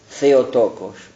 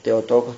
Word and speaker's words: Theotokos: Tengo que saber de la expresión Theotokos, o Theotokos también se puede pronunciar.